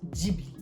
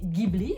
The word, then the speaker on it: Ghibli: en japonais on prononce djiby donc si vous prononcez ghibli vous êtes plus proche de la prononciation italienne de ce mot de cet avion également